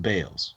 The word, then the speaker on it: Beals: Jeremy Holtz um Elizabeth Bales uh her name is spelled like Beals b e a LS but it's pronounced Bales okay I I I